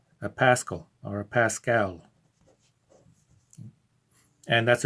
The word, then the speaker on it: pascal: is named after blaise pascal and i simply pronounce it a pascal anglicize it here for our purposes so pressure has the